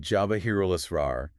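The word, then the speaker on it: جواهر الأسرار: How would you roughly pronounce that? something like Jawahirul Asrar.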